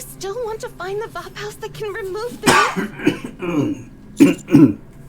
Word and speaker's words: Vapaus: It's Vapaus.